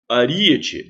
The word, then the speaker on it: aríete: vamos lá amálgama proparoxítona aríete aríete separa assim a e ET também é proparoxítona a sílaba tônica é anti-penúltima Zé Filho proparoxítona não